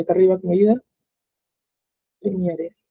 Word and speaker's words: Premiere: arriba que me ayuda premiere prem premiere Premier se pronuncia Ahí va la carpeta